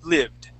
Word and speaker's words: lived: This word here, you gave it an E sound on that I, so instead of saying lived, you had said lived. So let's get a good short I sound, lived.